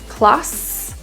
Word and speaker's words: closet: The S in closet is pronounced as a Z sound. Z. So feel your buzz or vibration in your throat. Closet.